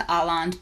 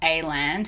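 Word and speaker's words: Aland: So if you have been to Arland before, or A-land, however you prefer to pronounce it, I think in Korean it's A-land, but you will notice that the selection is a little bit different.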